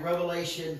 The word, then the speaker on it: Revelation: a statement a declaration revelation is singular it is not plural it is not revelations like so many people pronounce it they had an s it is revelation it is singular it is one of it that is expounded